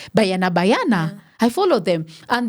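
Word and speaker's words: Banyana: How do they pronounce it? Bayana.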